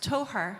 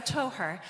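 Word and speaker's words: Tóchar: Our project is pronounced Toher. So I was saying to Sasha earlier, like your toe and then her, which obviously is really important for gender. So Toher. And Toher is an archaeological word,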